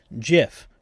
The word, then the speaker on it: GIF: to pronounce the word GIF, right? Some people will say, "Oh, it should be GIF because it's graphics interchange format." Uh the person who invented it said it should sound like the peanut butter, right?